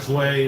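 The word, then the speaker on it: Sui: Sway is how you say it. I like to say Suey. Well, it's you know, more fun goes Suey.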